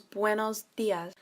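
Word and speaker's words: buenos días: Now it sounds like you're saying when for the buenos, but you're adding a B at the front, so it becomes buenos dias.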